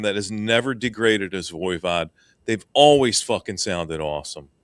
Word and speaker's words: Voivod: Is it Voivod? No, it's Voivod.